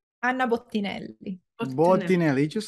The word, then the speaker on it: Bottinelli: I butchered it on the how do you pronounce? Anna Bottinelli.